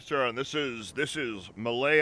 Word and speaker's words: Mallet: this is this is malay island it's it's spelled mallet but it is okay all